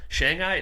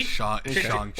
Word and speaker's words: Shang-Chi: But Shanghai at 2, you kidding me? Well, how do you pronounce it? You said Shang-Chi? Shanghai? You said Shanghai? Shang-Chi.